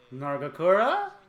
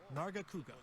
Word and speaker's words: Nargacuga: Nargakura? So, I'd like to Yeah! that monster now. Nargacuga. I kept pronouncing the name wrong, but I don't give a fuck.